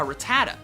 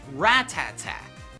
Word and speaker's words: Rattata: as a kid a lot of you probably pronounce it a Rattata when in reality it's actually pronounced ratata I'm sorry I'm way I'm way what are